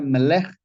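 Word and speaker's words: מלך: La palabra rey se pronuncia Melech, pero lleva una V y una apóstrofe antes de escribirla.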